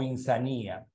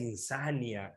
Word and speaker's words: insania: Profe, ¿cómo es la palabra? ¿Insania o insanía? ¿Ah? La palabra es insania.